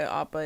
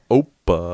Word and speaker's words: Appa: No, I think they Oh, call him thought- Appa. I think I'm off. So they call. Oh, okay, Appa. Yeah. Oppa. I'd be so fucking pissed. Could you imagine they fuck up Appa's name? Oppa. That's so dumb.